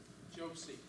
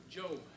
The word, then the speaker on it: Job: Josie. Josie? Job, Job. like the book of I'm Job.